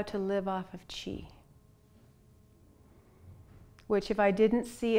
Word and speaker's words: Qi: it I'm cultivating chi chi is spelled Qi but it sounds like CH Chi is essential vital